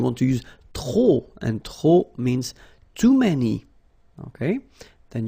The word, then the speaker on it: trop: If you want to use trop, and trop means too many, okay? Then you will have to put de and the noun without the article, okay? Remember, too many, trop, don't pronounce the final P, trop, de, and the noun without the article.